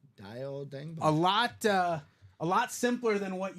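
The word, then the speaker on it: Dayo Odeyingbo: confusing to pronounce, but on Wikipedia, the official pronunciation is Dio Odengbo. Dio Odengbo.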